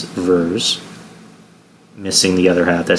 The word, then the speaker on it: Vers: Why don't you just call her Vers? Vers kind of sounds like it's spelled with two E's or EA.